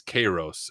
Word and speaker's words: Kairos: My seminary professors pronounced it kyros, but one of my uh Greek viewers who watches me said it's it's chos. So just say it however you want.